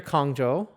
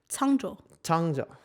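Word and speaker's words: Cangzhou: So eventually, though, they get near Kongzhou and Sagacious leaves them. Kongzhou is the exile destination. Yes. Am I saying it wrong? Yeah. Changzhou.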